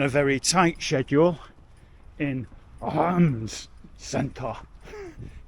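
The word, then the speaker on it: Reims: very tight schedule in arms Center yes you do say it like arms what you do it's like a like you set on a lower L arms as we were told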